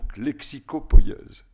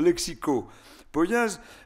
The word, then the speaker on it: lexicopoïèse: Je le dis en 2 mots parce qu'à mon avis, ça relève de la lexicopoïèse. C'est comme ça que je le prononce. Alors, la lexicopoïèse, il y a cette différence que je viens de faire entre lexicographie et dictionnaire.